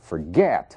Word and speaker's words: forget: Admitting, forget, mesmo caso, forget, a sílaba tônica é o get.